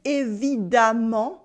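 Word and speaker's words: évidemment: course in this case you can notice that the ending sounds like am with the a sound we say it evid not and evid we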